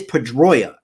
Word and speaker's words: Pedroia: playing he used we it is pedroia that's how it's pronounced but he would always